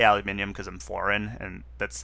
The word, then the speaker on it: aluminium: Uh, I think Americans uh tend to leave out the second I and that's why the American pronunciation is aluminum.